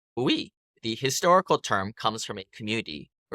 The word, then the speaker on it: hui: Groups of investors in large projects are often called a hui, pronounced hui.